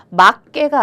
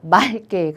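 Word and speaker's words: 맑게: 리을 기억이 왔어요 그런데 기역 앞에선 리얼이니 마개가 아니라 말게 올바른 발음이 있죠 정답은 그래서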